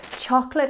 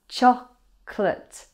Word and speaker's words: chocolate: Chocolate has a silent Oh. So just two syllables, chocolate, chocolate, chocolate.